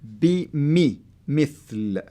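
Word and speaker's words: مثل: That's the kasra, and the kasra will help you to say it mithl. So if it wasn't there, you can say bimethal.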